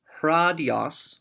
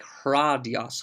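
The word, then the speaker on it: ῥᾴδιος: Remember that rose oftentimes get breathing marks, so you can, if you want to pronounce it as just hradios, that's fine too. But technically, it would sound like hradios, hradios, or hradia, hradion.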